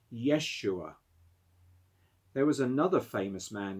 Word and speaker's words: Yeshua: shape your character so what does the name jesus mean in hebrew which was the ancient language of the bible the name jesus is pronounced yeshua there was another famous